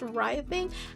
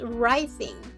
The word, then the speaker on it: writhing: Is it right thing?" I don't know. Apparently, it's pronounced writhing.